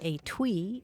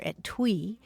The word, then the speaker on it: etui: If you do enough crossword puzzles, you're sure to come across the word etui or etwee. It's spelled e t u i and it means a small case for sewing needles or other little items.